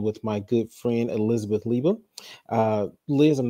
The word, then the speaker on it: Leiba: Everyone says Leiba because it like phonetically speaking, it looks like it should be, but it's actually Leiba.